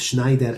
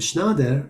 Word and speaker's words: Schneider: As I mentioned, both Schneider and Schnader are acceptable pronunciations, but there's many variations of the transliteration.